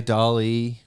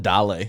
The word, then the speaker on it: DALL-E: that the new ai dolly that's what do you call it i call it dale because i want to sound like dallas yeah it's spelled like wall-e that's exactly what i